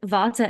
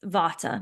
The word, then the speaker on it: vata: people, they have a chronic vata imbalance their entire life, but they actually are more of a pitta or a kapha or whatever it is.